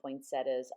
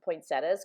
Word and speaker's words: poinsettia: to the poinsettias and i pronounce the flowers poinsettias because that's how that's pronounced in my area but i do hear a lot of people on youtube videos saying poinsettia and i can see why because there is an ia at the end you can see that